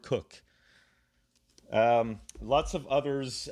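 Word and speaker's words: Coke: Now this is pronounced Cook, Sir Edward Cook.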